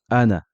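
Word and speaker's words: أنا: Le mot ana sera un peu spécifique. Lorsqu'on fera la liaison, c'est-à-dire qu'il sera suivi de quelque chose, on ne prononcera pas son allongement. Et lorsqu'on s'arrêtera dessus, on prononcera l'allongement.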